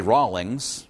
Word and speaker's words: Rawlings: and I like Rawlings when I say Rawlings I know it's spelled r-a-w-l-i-n-g-s but maybe it sounds like it's spelled r-a-h-l-i-n-g-s and so if someone